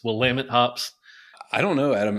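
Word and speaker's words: Willamette: my brother that uh it's actually pronounced will lamit pops and not will a met like we said about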